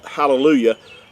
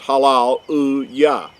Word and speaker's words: hallelujah: a lot of times in modern times hallelujah. But in ancient Hebrew, it was pronounced as halal uya.